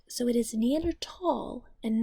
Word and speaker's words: Neanderthal: Valley in German is pronounced "tall", and therefore the H is silent. So it is neander- tall and not neander-thals.